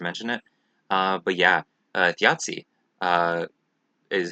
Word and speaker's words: Þjazi: it uh but yeah theiai uh is how it's pronounced kind of like pizza where it has that that t sound in it um but yeah theiai